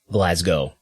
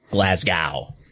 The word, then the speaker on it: Glasgow: Bonus points if you want to pronounce it Glasgow, as I just did, and not Glasgow, like a dumb Yank.